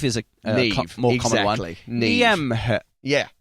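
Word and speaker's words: Niamh: There's one name Nev is a more commonly ne Yeah. N I A M H is pronounced ne in Ireland.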